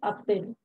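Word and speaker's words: a-t-elle: So we have two hyphens here, A hyphen T hyphen L, Atel. The pronunciation is Atel.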